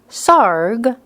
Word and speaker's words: Sarg: another tony frederick sarg sarg rhymes with argh every little movement has